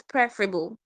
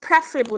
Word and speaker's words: preferable: So when the preferable is not available, the available becomes preferable. The word is pronounced preferable, not preferable.